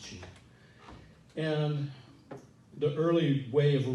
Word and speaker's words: qi: the mysterious life force cheat and it's q-i pronounced chief and the early way of writing qi was